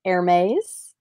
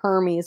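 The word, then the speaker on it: Hermès: i sold is this i think it's pronounced heir maze you guys tell me if i got it right because i know i called it hermes once and everybody's like no and they they commented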